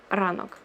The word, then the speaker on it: ранок: It's not P. P is actually this letter, okay? So this one is R, ранок.